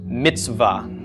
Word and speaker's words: mitzvah: aa the comments okay so this V pronounced Mitzvah so that set and the buck are sort of just running into each other there's no vowel sound in between them actually you'll frequently see